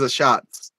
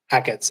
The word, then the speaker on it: Achatz: Grant Achatz. Yeah, Grant. I thought it was a Shots. Is it And Ackett's? Hackett's, yeah. I mispronounced his name to his face then.